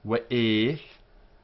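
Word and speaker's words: וְאֵת: In Iraq, this would be the pronunciation. V'et. But we are not Iraqis, we are Spanish and Portuguese. V'et. One syllable. V'et.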